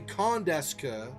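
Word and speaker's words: quand est-ce que: So quand, and then you pronounce the D because of the E on esca. So you say quand est que.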